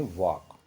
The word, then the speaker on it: walk: तो इसको हम वाल्क न बोल के वाक बोलते हैं। तो इसमें एल बच्चों साइलेंट है।